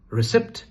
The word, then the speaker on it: receipt: R-E-C-E-I-P-T. Is it receipt? No, that's wrong. The correct pronunciation is receipt. Receipt. The R sound. And mind you, P is silent.